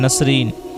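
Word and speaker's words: Nasreen: की मानी है तफरीह और खुशहाल नाम है नसरीन नसरीन की मानी सफेद फूल और इसकी spelling N ए एस R double E एन नसरीन नाम है निस्मत निस्मत की मानी है खुशबू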